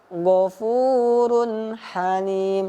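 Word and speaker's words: غَفُورٌ حَلِيمٌ: Maka cara membacanya itu tidak didengungkan atau tidak dipanjangkan, akan tetapi cara membacanya jelas. Ya.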